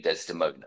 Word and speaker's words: Desdemon: I mean, I suppose it can be pronounced Desdemon, but it still loses that reverberation that you get through the final A.